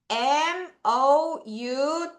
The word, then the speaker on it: mouth: M-O-U-T-H죠. TH 발음 주의해.